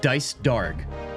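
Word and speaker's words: Dycedarg: His name is so awkward to pronounce too. It's just Dice Darg, but it's one word.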